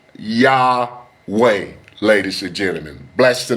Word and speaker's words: Yahweh: But the most accurate name today, ladies and gentlemen, is Yahweh. It is Yahweh, ladies and gentlemen.